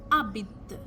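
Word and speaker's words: habite: H because in front we don't pronounce the h Abit okay instead of habit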